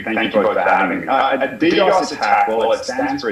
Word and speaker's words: DDoS: What is and then tell us, what is correct, how to correctly pronounce it. Is it DDoS or DDoS attack? What is it? DDoS.